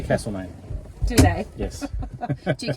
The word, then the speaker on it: Castlemaine: Here we are in Castlemaine. Or is it Castlemaine? Oh my gosh. Castlemaine. There's a couple of ways of saying it, isn't the there? locals say Castlemaine.